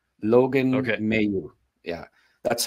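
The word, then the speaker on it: Mailloux: from right from the source there uh it's Mayu Logan Mayu yeah that's how he grew up you know uh pronounce his name was pronounced and that's how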